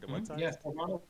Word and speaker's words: Carvanha: See, I think Carvanha, like I'm thinking it's piranha.